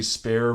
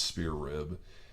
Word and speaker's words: Spear Rib: spear rib all right every time I see that I will say spare but it's spelled spear so it's spear rib yeah they've been around